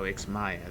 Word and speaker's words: Ixmaya: Oh, Ixmaya, that's how you pronounce it. I've been pronouncing it Ixmaja.